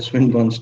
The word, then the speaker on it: Swinburne: it mean okay and many of people they pronounce like that on the swine bones test no it is a swing bones test so swinburne is a